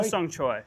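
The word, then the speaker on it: Hosung Choi: Ho-sung Choi.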